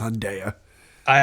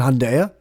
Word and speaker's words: Hyundai: heard a commercial and they said hyunda never it's Hyundai no I thought I thought it was Hyundai I just got corrected by you I no he added a syllable see for a second I was thinking back at the story going wait did he say it no I know he added a syllable he said hyunda it was three syllables huh or maybe hunda